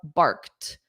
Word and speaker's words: barked: meows a dog barks now because this is the end of the sentence I'll pronounce that t more barked but in a natural sentence if barked was in the middle of a sentence it would be a very soft t Okay Elson said they